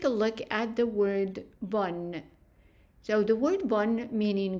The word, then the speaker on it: bon: a little bit different, meaning that we don't pronounce the N, so we pronounce it bon, bon.